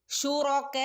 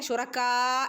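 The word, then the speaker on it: شركاء: രണ്ടനൊക്കെ നീട്ടി ഓതി കൊടുക്കണേ നദു ശുറക ശുറകുറ എന്നുള്ള ഉച്ചാരണാണ് കൊടുക്കേണ്ടത് അതുപോലെ ശുറക്ക എന്ന് ഓതരുത്ുറ ുറക കാഫിന്റെ ശബ്ദാട്ടോ അവിടെ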